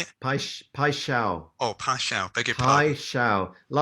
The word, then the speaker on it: Paixão: Like a pie, like steak pie, and shao like so, Paixão. but pai shao. I mean, Paixão. yeah, you have to ask a Brazilian to pronounce it properly, Right. but pai shao is the nearest that I've got to it. Because again, both these songs